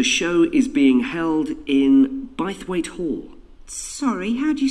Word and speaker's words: Bythwaite: free and the show is being held in bythwaite hall sorry how'd you spell that b y t h w a i t e by weight so this is bias weight hall that was